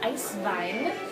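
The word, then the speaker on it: Eiswein: you can produce a true german-style ice vine and the german pronunciation and we choose to abide by that it's much like the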